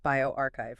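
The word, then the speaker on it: bioRxiv: And this came out quick October 16th on bioarchchive pronounced bioarchchive remember right bioarchchive and it's from Kim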